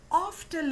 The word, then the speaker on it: often: But often little morning. So oft here is the short form for often. Often not often. T is silent in that.